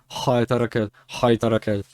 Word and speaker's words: խայտարակել: նրա ամուսինը, քանի որ արդար էր եւ չէր կամենում նրան խայտարակել, մտածեց Haytarakel. Yeah, that's a very hard h sound. It's not k, it's h, and h needs to be that is a bit that's a glottal.